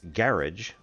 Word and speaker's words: garage: In those days, garage was pronounced garage, g a r i d g, to rhyme with carriage.